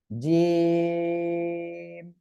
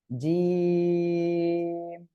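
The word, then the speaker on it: جيم: জিম। জিহ্বার মাঝখান তার বরাবর উপরে তালুর সঙ্গে লাগিয়ে উচ্চারণ করতে হবে। জিম, তিন আলিফ টেনে পড়তে হবে।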